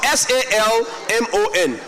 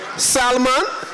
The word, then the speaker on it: salmon: S A L M O N that one high salmon salmon. So the L is silent now.